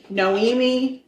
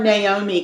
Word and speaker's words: Noemi: So her name was Noemi Ramon. Okay. I want to call her Naomi constantly because it's almost spelled like that, but it's not.